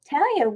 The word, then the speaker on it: Talaya: Talaya, welcome. Hi, Debi. Hi. And it's pronounced Talaya. Oh, Talaya, sorry.